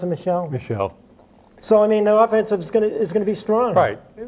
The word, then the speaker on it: Michel: They pronounce him Michelle? Michelle.